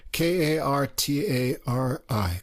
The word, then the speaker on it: Kartari: that q what's that no k-a-r-t-a-r-i kartari yeah but the first name is e-m-r-e emre emmer emery i don't know anyway we'll just call him kartari uh so we've got